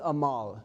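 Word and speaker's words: עמל: is pronounced uh um It's pronounced amal, that means toil or labor.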